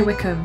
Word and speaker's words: Wycombe: now maybe that'll give me an edge hi wickham oh i got it right wickham hi wickham